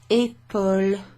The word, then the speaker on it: épaule: and that is what épaule is. That sounds a bit like apple with a weird accent. Épaule. Épaule. So there's an acute accent over the E which gives it that E sound, okay?